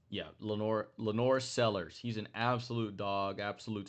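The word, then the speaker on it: LaNorris Sellers: nation right now in Lenore Sanders. I believe, or Lenore Sellers, I believe. That's how you say his name. Yeah, Lenore Sellers.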